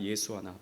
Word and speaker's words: 예수아: 예수와라고 되어 있어요 예수와 근데 히브리 표기법은 사실 똑같습니다 여호수아나 예수아나 발음을 어떻게 하느냐에 따라서 예수와가 될 수도 있고 여호수아가 될 수도 있죠이 이름이 이제 헬라어로 음역하면